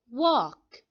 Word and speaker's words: walk: read the last word walk now the letter l in walk is silent this means that we do not say the sound so let's repeat the